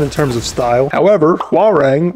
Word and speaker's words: Hwarang: However, Hwarang rhymes with boomerang and that's ridiculous.